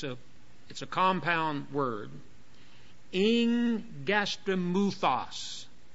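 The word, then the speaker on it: ἐγγαστρίμυθος: Now watch what how I'm pronouncing it. It's a compound word. Ingastromuthos. Ingastromuthos.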